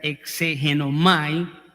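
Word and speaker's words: ἐξηγέομαι: obtener información sino que la palabra en el original es una palabra de donde viene la palabra exégesis y se pronuncia exengenomay que quiere decir que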